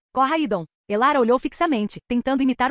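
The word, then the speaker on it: Koraidon: Este é Coraidon. Corra, Idon.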